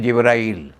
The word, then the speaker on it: जिब्राइल: जो अंग्रेज वाले हैं उनका नाम लेते हैं गैब्राइल। वो जी का उच्चारण जो है गा करते हैं। तो गैबल नाम का फरिश्ता देवदूत वह उसके सपने में आया। हिंदी में उसको कहते हैं जिब्राइल। जा ग का उच्चारण जा करते हैं तो गैबल की बजाय वह जिब्राइल बन जाता है।